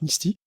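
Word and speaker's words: Msty: qui s'appelle mistti alors Misty ça s'écrit MS que je prononce Misty et euh pronceraai pareil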